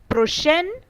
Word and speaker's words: prochaine: Prochaine in case of feminine. Similarly, the word last also has two pronunciations.